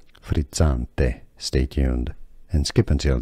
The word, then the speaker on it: frizzante: In Italian it's said as frizzante, frizzante. You have the double Z, which is like pizza, frizzante.